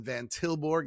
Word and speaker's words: Martijn van Tilborgh: So Martijn, it kind of looks like Martin, but it has a silent J right before that last N. And then Van Tilborgh is just how it sounds, but it has a silent H at the end.